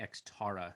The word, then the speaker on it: Xterra: many t's is it x like my ex-girlfriend ex i was going to tell everybody that mine's actually an ex tara so don't mispronounce it xtara something's going on